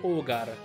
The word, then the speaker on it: Ogre: immediatamente un piccolo appunto ogre in realtà andrebbe letto o gara però no brutte proprio che pronuncio raimond inazuma come andrebbero proprio pronunciate pronuncio ogre come la green non come hogan però suona meglio dai